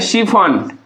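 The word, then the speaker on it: chiffon: शिफॉन। सी एच I double F ओ एन इसको हम लोग क्या पढ़ेंगे? शिफॉन।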